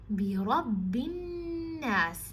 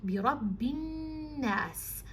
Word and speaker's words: بِرَبِّ النَّاسِ: Bi Rabbin Nas. Now the ba here, it has a shadda, so you have to emphasize on it, and the noon has a shadda, so you have to emphasize on that.